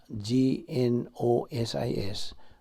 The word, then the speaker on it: gnosis: Griego nga pulong na gnosis, gnosis, silent G na.